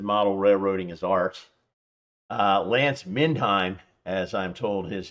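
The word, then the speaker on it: Lance Mindheim: Uh, Lance Minheim, as I'm told, his name is pronounced, Lance Minheim, also thinks that he wrote an entire book about it.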